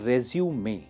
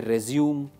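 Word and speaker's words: résumé: अच्छा, एक चीज पे आप ध्यान दीजिए, इस वर्ड की स्पेलिंग है रेज्यूमे, ठीक है। बहुत सारे कैंडिडेट्स प्रोनाउंसिएशन में गलती कर देते हैं, कहते हैं रेज्यूम, रेज्यूम, रिज्यूम। This is रेज्यूमे।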